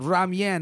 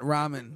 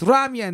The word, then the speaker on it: ramen: me okay you're like hey that's how you pronounce it boys if you're ever with the asian girl so ramyan not ramen just so you know yeah yeah if you